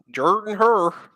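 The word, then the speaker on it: Jordan-Hare: hair um Jordan hair I hate I hate the way people pronounce it it's SP it's spelled Jordan hair but it say Jordan Jordan her um really I honestly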